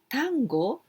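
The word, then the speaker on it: 端午: different name is otangono tango no seku this kind is quite difficult but tango the pronunciation is just the same as the argentine argentine dance at urgent music tango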